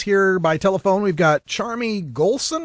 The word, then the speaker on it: Charmie: by telephone we've got charmi goon I hope I'm pronouncing That Right charm me you are Russ thank you very